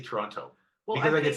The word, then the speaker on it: Toronto: how do you say Toronto? Toronto. You say Toronto Absolutely. always? I breathe that last T just a little bit.